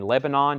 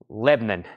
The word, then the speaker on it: Lebanon: copies from this collection Lebanon not Lebanon Lebanon Lebanon one syllable if you live here in Tennessee Lebanon if you live in Maryland okay uh uh let's